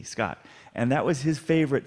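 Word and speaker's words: Skat: He wanted to get to, interestingly, there is a very famous German card game, which is called Scott. It's spelled S-K-A-T, Scott.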